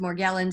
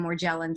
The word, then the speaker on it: Morgellons: the battle over Morgellons which is well I hear pronounced Morgellons and more gel and so we'll find out which way he prefers but this is interesting